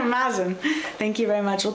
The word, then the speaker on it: Mazen: your last name correctly I'm never sure if it's maen or Mason maen ma m sorry ma ma like jazz sorry about that yeah maen thank you very much